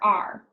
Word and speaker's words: are: why it's tricky because you want to say the a and the e but for some reason you don't say them you only say R so when you see